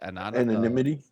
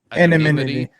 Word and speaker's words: anonymity: Anonymity. Anonymity.